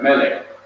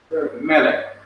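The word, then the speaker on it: מֶלֶךְ: That's right, Melech. The accent is on the first syllable. The arrowhead here represents the accent. Melech.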